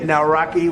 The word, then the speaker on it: Nawrocki: It's a great pleasure to have President Nawrocki with us.